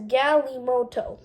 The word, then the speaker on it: galimoto: toys are known as galimoto it's pronounced g-a-l-e-m-o-t-o-e the word may have